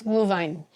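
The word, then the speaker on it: Glühwein: little bit horrible cuz I was doing the w rather than the V sound for the W so it's glue Vine She also asked me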